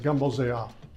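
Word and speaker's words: Gumbo z'herbes: So a variety of gumbo called Gumbo Zayab became very popular. Now, when you see it written out, it's written Z apostrophe herbs like that, but the natives pronounce it Gumbo Zayab.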